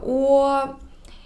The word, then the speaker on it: 我: When you pronounce this sound, your lips change from a small circle into a little bit bigger circle. So 我. But it's always in a circle, okay?